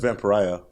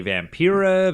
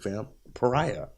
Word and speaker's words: Vampariah: I just realized that van pariah rhymes wouldn't buy it I just thought no not really and some people make more fun of that it rhymes with Mariah that Mariah I'll say